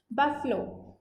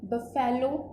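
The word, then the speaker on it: buffalo: बफलो, अच्छा इसकी pronunciation आप देखिए, बफेलो नहीं होती, बफलो ये होती है इसकी प्रोनाउंसिएशन।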